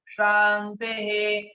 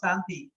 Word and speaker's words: Shanti: Like when we say Om Shanti, Shanti, Shanti. As a European, you say Om Shanti Shanti. That means you don't pronounce properly because you need to put the tongue proper palate.